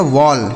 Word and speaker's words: wall: डब्ल्यू A double L, तो डब्ल्यू से हो गया दोस्तों व, इस ए का उच्चारण अ हो गया, डबल एल से ल, यह लिखा गया आपका वॉल। क्या लिखा, वॉल, ठीक है। इसे ना तो ओल पढ़ना है ना तो वाल पढ़ना है, क्या पढ़ना है, वॉल,